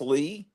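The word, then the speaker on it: Leigh: Gone With the Wind her name was spelled like that and it's pronounced Lee I have I don't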